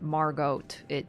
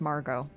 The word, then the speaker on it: Margot: And the thing about Margot is it's a French name, so it's not Margot or Morgott. It's Margot, you know? It's a French feminine name.